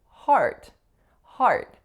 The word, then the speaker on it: heart: would be pronounced as heart heart cuz then you know you have a good heart or he's a heart surgeon so in that case here are two totally absolutely different vowels let's look at another